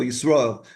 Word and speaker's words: Yisroel: My name originates from Jacob, whose second name was Israel, Yisroel. It's pronounced in English Israel, but it's Yisroel.